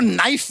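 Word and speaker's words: knife: जाए सलमान जी आपको नाइफ word मालूम है नाइफ उसमें शुरुआत में जो के होता है वो क्या है साइलेंट आप भी रहिए।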